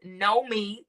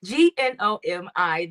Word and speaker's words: Gnomi: Once again, my name is Nomi. That's how you say it. Gnomi. The G is silent.